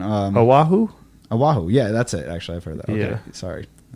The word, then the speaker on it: Oahu: Yeah, yelled don't at eat me alive on my pronunciation. Oahu?